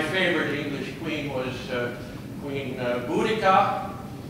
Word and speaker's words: Boudica: English Queen was Queen boudica her name was mispronounced for quite a while as bodeisha and and that's where